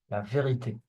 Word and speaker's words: vérité: Okay, there is an E with an accent at the end. It's E. In this case, it has to be pronounced, and it's pronounced E. La vérité.